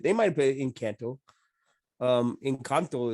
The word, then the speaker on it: Encanto: Encanto is how you would say it in Spanish.